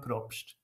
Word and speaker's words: Probst: correctly for me you you want the Swiss pronunciation sure sure that's props easy for you to